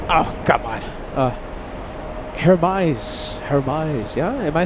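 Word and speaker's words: Hermès: Kevin Anthony says, "The fufu shishi pronunciation." Oh, come on. Uh, Hermise.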